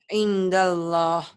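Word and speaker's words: عِنْدَ اللّٰهِ: Indallah. Indallah. Kenapa? Karena nun mati bertemu dal. Nun mati bertemu dengan dal ya.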